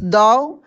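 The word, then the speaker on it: though: जाएंगे ठीक ना चलिए टी एच ओ यू जी एच दाव इसको हम लोग दाव पढ़ेंगे ना कि थॉट पढ़ेंगे देखिए टी एच ओ यू जी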